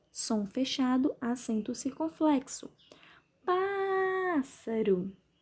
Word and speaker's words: pássaro: Pássaro. Sílaba tônica é o pá, som aberto, acento agudo.